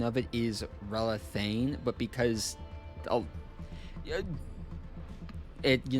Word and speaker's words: Relathain: The official pronunciation of it is relane, but because a it, you know, a lot of people aren't able to like properly pronounce it.